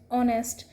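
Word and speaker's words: honest: जैसे year, हियरएस, हियरलूम, ऑनेस्ट, तो इसमें जो एच है ना वो साइलेंट है. इनके पहले भी क्या आता है, एन का यूज़ किया जाता है. एच इसमें साइलेंट होता है.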